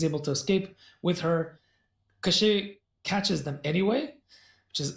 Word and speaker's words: Koschei: Koschei catches them anyway, which is odd.